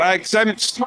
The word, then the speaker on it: XZMPT: Okay, so Exempt. Just type Exempt into Google. Yep. I'm very fortunate in that I've picked a random name, but it's spelled XZMPT. So no vowels in it.